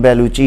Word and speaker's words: Bellucci: ये भी Italian origin से हैं तो इसलिए इनका नाम बेलुची है।